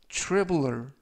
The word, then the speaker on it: traveler: 이번 표현은 traveler 이라고 발음하시면 되겠고요. 발음이 약간 어렵고요. tr 발음이 true, 그래서 traveler 이라고 발음하시면 되겠습니다.